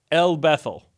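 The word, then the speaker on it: El-Bethel: it's got to be it's Hebrew, and so you're supposed to do the cadence on the first syllable. El Bethel.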